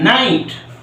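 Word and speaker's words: knight: দেই তোমাদের কে এন আই জি এইচ টি নাইট এই নাইট মানে কি নাইট মানে কি ঘোড়া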